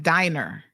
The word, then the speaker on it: Diner: So they have retained, somebody said his last name is pronounced Diner. Okay, thanks for the correction.